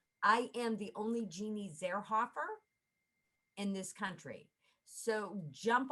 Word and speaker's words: Zierhoffer: e r h o f f e r zerhoffer i mean you literally you know spell it like you pronounce it it's very easy